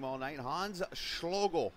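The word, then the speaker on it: Schloegl: name all night hans schlogel i believe todd's pronounced s-c-h-l-o-e-g-l there's another duck on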